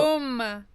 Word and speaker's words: comb: Oh, And you know- comb. Yeah. You don't pronounce the last letter.